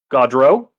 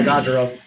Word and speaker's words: Gaudreau: I gotta make sure I pronounce his last name correctly. Johnny Gaudreau. Yeah, Gaudreau.